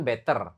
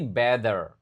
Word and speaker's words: better: Dan ini bacanya bukan better, tapi better. T-nya dibaca kayak day.